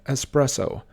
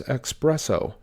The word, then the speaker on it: espresso: as either number five espresso this is often mispronounced as expresso number six February this